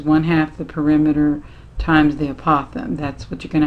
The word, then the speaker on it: apothem: word call it apothem apo tha a.m pronounced apothem and that's an important one